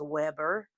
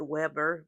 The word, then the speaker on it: Weber: Kaweco, his name was Weber, and that's where the W in Kaweco comes from. And I know that's an oxymoron because I said Weber, but yet it's pronounced with a V.